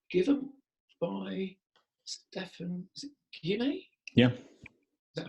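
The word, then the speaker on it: Guyenet: And there was a paper that was given by Stefan, is it Guinea? Yeah. Is that how it's pronounced?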